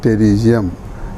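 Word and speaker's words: pterygium: तो टेरिजियम, इसमें P silent होता है लेकिन कहा जाता है इसे टेरिजियम, हिंदी में नाखूना।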